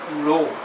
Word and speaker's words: rho: This K here is what is called resistivity, rho. The symbol is pronounced as rho, and this constant is called resistivity, which is also known as specific resistance.